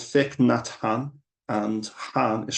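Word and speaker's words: Hanh: so the monk was called thick Nan and Han is spelled h a n h and he said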